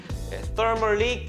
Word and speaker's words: Thermal: 뭐 저희가 지난번 영상에도 한번 설명드렸었는데 Thermally Cured. Thermal. 번데기 발음입니다.